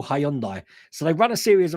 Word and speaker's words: Hyundai: to run a series of adverts for uh Hyundai's because we call them Hyundai Hyundai cars we call Hyundai so they run a series of ads on